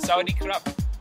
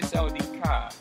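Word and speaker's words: สวัสดีครับ: Oh, Sawadee Krap. Sawadee Krap. Well, you would say Sawadee Ka.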